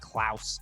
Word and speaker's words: Klaus: santa claus kind of thing and yes it's pronounced klaus in the in the film and again it's